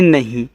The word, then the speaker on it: नहीं: देखो यहाँ पे NAHI दिया है तो इसे पढ़ते हैं नहीं। अब नहीं में मुझे नापे मात्रा की ज़रूरत नहीं है तो मैं ए को साइलेंट रखूँगा, मात्रा नहीं लगाऊंगा।